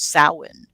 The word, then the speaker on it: Samhain: like it's spelled samhain s-a-m-h-a-i-n-h-a-i and the actual pronunciation is samhain and uh by the way that is one